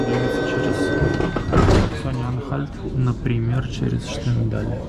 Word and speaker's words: Штендаль: Сейчас видите кадры из Штендаля, правильно говорить Штендаль, и мы стояли буквально минуту или меньше там, потому что поезд задержался минут на 15 минимум.